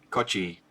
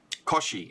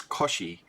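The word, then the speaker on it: Cauchy: it was Augustine Louie coochi Augustine Louie coochi was born Koshi it's Koshi was born during the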